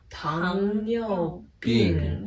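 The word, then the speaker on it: 糖尿病: Tong Yu Bing.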